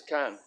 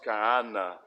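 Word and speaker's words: كان: And this is kan. But in modern standard Arabic and formal Arabic, it's pronounced ka'ana.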